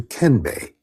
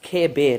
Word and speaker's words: kenbe: But in the weeks after, It's pronounced kebe, not no N. Sorry, he just irritated me with that. I mean, the N is there, but not as enunciated as he said it.